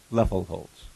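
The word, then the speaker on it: Loeffelholz: l z okay and that is pronounced leel Holtz leel holdz leel and if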